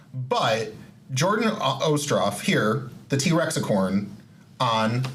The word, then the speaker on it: Ostroff: so but it is osto I have to say it better it's not ough yeah it's uh Russian not Irish got it okay well